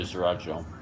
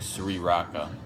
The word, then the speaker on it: sriracha: I gotta say sriracha, but it's not spelled like I'm saying it. It's like sriracha, sriracha, cucaracha.